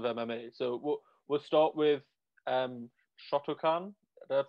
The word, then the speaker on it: Shotokan: So we'll start with Shotokan. Did I pronounce that right?